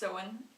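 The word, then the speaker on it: Samhain: traditional Pagan Celtic Festival of sewing spelled salmon pronounced Sohan it's the Irish Gaelic word for Summer's end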